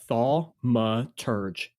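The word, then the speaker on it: Thaumaturge: I'll tell you a little bit about this game while you look up the pronunciation. Um, yeah. Yeah. Thalma. Yeah, I was dead on. Uh, Thalma Turge. All right. Thmaurge.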